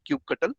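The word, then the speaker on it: kubectl: well it's it's called cube control uh sometimes people pronounce it as cube cuttle so this cube control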